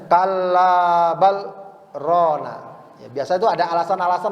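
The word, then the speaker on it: كلا بل ران: maka Allah katakan lagi Kalla bal Rona ini cara bacanya Ada apa namanya sakta jadi B sakta itu apa Berhenti sejenak tanpa napas ya bacanya Kalla bal Rona ya biasa itu ada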